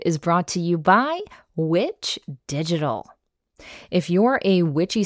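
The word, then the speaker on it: VVitch: Head on over to Witch Digital and note that Witch is spelled V-V-I-T-C-H and mention the Witch Wave to save 10% off your first service.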